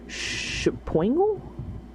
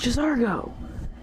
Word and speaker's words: Jazargo: How do you say your name? Shapoingle? I like the name Shapoingle. Interesting. Oh, it's Jazargo.